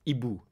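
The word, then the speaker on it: hibou: it's such a good word in French it's IBU h i b o u and it's like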